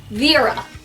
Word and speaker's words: Vera: it in their heads that my name is pronounced vira II rub it got to the point we